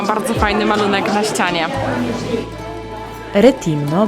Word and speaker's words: Rethymno: fajny malunek na ścianie retimno bo chyba tak powinno wymawiać te nazwy to Trzecie co do